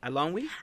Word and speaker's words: Eilonwy: I'm not sure either I think what she introduces herself she says I'm I don't we so I'm almost positive that's how you say it correct me I don't know